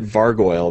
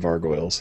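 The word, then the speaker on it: vargouille: out yeah uh well I always pronounced it vargoyle there's like gargoyles and vargoyle vargoyle oh that's better yeah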